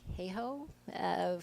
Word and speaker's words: Hayhoe: Catherine Hayhoe, who you probably have heard of, the climate scientist. May I pronounce that correctly?